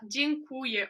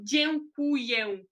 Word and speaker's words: dziękuję: Só que, por exemplo, quando a gente fala dziękuję ou dziękujemy, já não dá para ouvir esse E, é mais E, né?